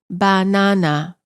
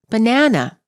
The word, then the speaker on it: banana: banana is pronounced as banana all three syllables are stressed equally in english we pronounce the word as banana the second syllable is stressed the vowel within the